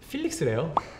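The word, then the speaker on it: Felix: 사실 뭐 이렇게 대단한 필릭스래요 필릭스입니다. 필릭스 진. 약간 호주 쪽 발음이신가요? 네, 필릭스. 왜 펠릭스 진이라고 하는지는 모르겠지만 필릭스래요 필릭스 진입니다.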